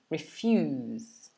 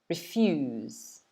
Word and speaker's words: refuse: okay so to refuse notice the stress is on the second syllable okay refuse try and repeat after me refuse this basically means to